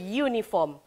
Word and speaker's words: uniform: Walaupun dia start daripada U, huruf U iaitu vowel, a uniform, tetapi awak kena ingatkan bahawa pronunciation dia iaitu ye, ye. Jadi a uniform. Dia tak bunyi a uniform. Dia tak bunyi macam tu.